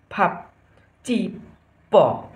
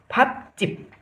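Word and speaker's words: 밥집: आउँदा प भनेर पढिन्छ, त्यस कारणले यसको उच्चारण के भयो त, फमा फा फाप फाप ची प फाप चिप, यसको उच्चारण के भयो,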